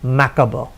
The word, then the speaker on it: macabre: The spelling is macabre, but the pronunciation is macabre.